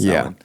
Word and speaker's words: Samhain: It's pronounced Samhain.